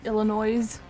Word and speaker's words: Illinois: ill nois isn't special you don't pronounce the S Illinois okay you hate Korean